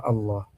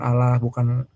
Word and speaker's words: Allah: Cara bacanya bukan Allah ya bukan Allah, bukan sembarangan, tapi ngucapinnya Allah. Ya, dibacanya Allah secara apa? Tebal, ya, tafkhim, bukan Allah.